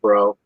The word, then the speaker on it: DuBrow: they they kicked Kevin Dau out, which Now, how do you say it? Do you say Kevin Dau or Kevin Dro? I always said Dro.